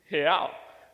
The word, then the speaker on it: real: See, in Portuguese, the way that you say real is real. So let me teach you how to say it. So on the count of 3, let's say he. So it's he, but without the e sound.